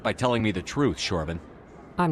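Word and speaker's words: Chorban: It's Shorban. It's with a sh.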